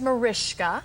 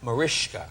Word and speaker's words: Mariska: My name is Mariska. Mariska. And it's spelled Mariska because it's Hungarian, and Hungarian, the S is an SH sound.